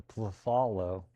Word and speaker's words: phthalo: So let's just bring back the phthalo, the phthalo. The P is silent.